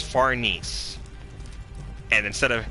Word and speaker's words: Farnese: Or, and for Farnese, and it's not Farnese, I hate how the dub translated that, it's Farnese.